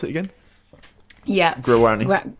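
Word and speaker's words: Guaraní: When you're a learner, for example, with a new language, let's say, focusing on, I can't say it, Guarani? How do you pronounce it again? Yeah. Guarani.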